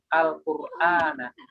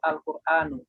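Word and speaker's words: القرآنَ: Nah, tadi ketika menjadi objek, maka dibacanya tidak lagi dengan dhammah, tapi dengan fathah. Ya, jadi yang benar ana darostu Al-Qur'ana. Ya, tidak boleh dibaca ana darostu Al-Qur'anu. Itu salah.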